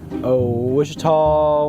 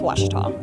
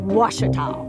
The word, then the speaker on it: Ouachita: Back in Texas, everybody pronounces it Wichita, but really, it's Washita. Washita. Washita. How would you pronounce it? Washita. Washita. It's Washita Baptist University. Get it right. It's Washita, people.